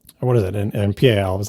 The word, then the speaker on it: PAL: Oh, apparently it stands for phase alternating line and is pronounced PAL.